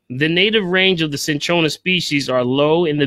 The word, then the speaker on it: cinchona: I want to talk about today is called cinchona okay essentially and I'll spell that for you see I in Ch Oh in a cinchona okay okay cinchona is basically they call it